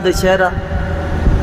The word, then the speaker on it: दशहरा: कि यह भी गंगा दशहरा वह दशहरा यह गंगा दशहरा लेकिन उस प्रकार का यह दशहरा नहीं इसको विच्छेद करके उच्चारण किया जाता है दाश हरा आज के दिन गंगा